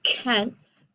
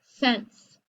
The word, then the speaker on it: cents: gum costs 87 cents i don't say kent's i say sense or in the word